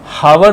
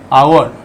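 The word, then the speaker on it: hour: और वह साइलेंट है जैसे इसको हावर नहीं पढ़ेंगे एज साइलेंट है इसलिए इसका प्रोनंसिएशन है आवर और ब्रैकेट में र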